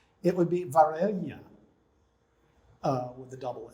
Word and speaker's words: Varela: know anything about spanish if you use a double l rather than a single l it is pronounced completely differently it would be varela uh with the double